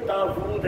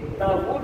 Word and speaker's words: داؤد: تک 14 پشتیں ہوئیں۔ صحیح تلفظ جو ہمارے نزدیک ہے وہ داؤد ہے، حضرت داؤد علیہ السلام کا جو نام ہے داؤد نہیں ہے، داؤد ہے، واؤ کے اوپر حمزہ نہیں ہے، الٹی پیش ہے۔ لیکن یہ میں انجیل